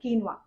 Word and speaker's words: quinoa: it in a different way but the actual pronunciation of this is so quinoa so the reason that i want to show